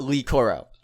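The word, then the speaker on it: Le-Koro: be fair I do I do pronounce it Lee Coro because Ellie is this is my thing and and I'm glad you bring this up because that that president president Lee Coro that President you know Lee cororo Lee leeah it's just an l and we know that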